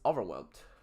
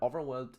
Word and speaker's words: overwhelmed: It it is important for you guys to pronounce it with a t at the end.